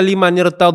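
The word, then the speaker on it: لمن ارتد: Dikasrahkanlah sukun yang pertama sehingga dibaca lima nirtad dan kita tafkhim, kita tebalkan limaad.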